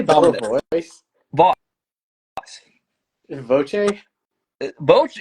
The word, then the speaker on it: voce: Voce, voce.